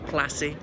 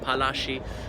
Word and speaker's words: Palashi: The illustrations around the back of him in the mango tope the night before the Battle of Plassey, which is actually a British mispronunciation of Palashi, another one about lifting the siege of Arcot, and so on, and many other magnificent military feats.